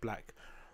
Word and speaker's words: 6lack: Slack, who, well, I think how people pronounce his name, but he's pronounced Black with a 6 in front of it, right?